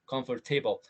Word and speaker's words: comfortable: También podría haber un pequeño matiz en la mitad, sonar más como comfortable o comfortable. Comfortable es más canadiense.